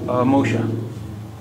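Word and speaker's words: مو ښه: پمخا موشا. پمخا موشا. موشا کو ہم موخا بھی تلفظ کر سکتے ہیں.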